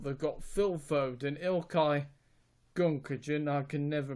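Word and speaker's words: Gündoğan: It might, but they've got in midfield they've got Phil Foden, Ilkay Gundogan, I can never pronounce his name. Gundogan.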